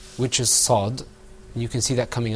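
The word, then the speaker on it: ص: Okay, now let's move on to our next letter, which is Sad. You can see that coming up on your screen, inshallah. Okay, let's practice. Repeat after me. Sad.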